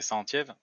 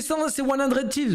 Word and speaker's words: 100 Thieves: C'est Centièvre. Centièvre. Tu le mignon. Centièvre, il a dit. Santiago aussi, non? Bordel de merde. Oui, c'est 100 Thieves, mais pas Centièvre quand même, la prononciation.